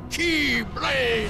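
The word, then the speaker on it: Keyblade: key the all powerful key blade and yes that's how you pronounce that key blade not the key blades you and I carry key the most ancient m some say Kai but the meaning is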